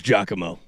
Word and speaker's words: Giacomo: It is Giacomo. It's Giacomo? Okay, gotcha. Just listen to the announcement. Here's how to pronounce Giacomo.